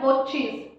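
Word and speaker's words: watches: अच्छा, अब मेरे बहुत सारे फ्रेंड्स इसको वॉच प्रोनाउंस करते हैं, वॉच, बट इसकी करेक्ट प्रोनाउंसिएशन है वॉचिज, वॉचिज।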